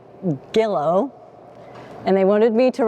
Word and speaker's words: Gilo: Today they join not just their hearts, but their surnames, embracing the new name Gillo. And they wanted me to remind you it rhymes with willow, so you can remember, because it's G-I-L-O, which